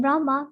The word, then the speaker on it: Brahma: hare rama pronounced krishna and brahma rhymes with drama are sanskrit words hare